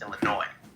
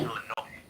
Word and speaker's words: Illinois: It's Illinois. The S is silent. It's Illinois.